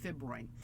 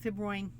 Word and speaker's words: fibroin: Um silk fibers are made from a protein called fibrin. Such a 20th century word. Um, fibroin like it rhymes with groin.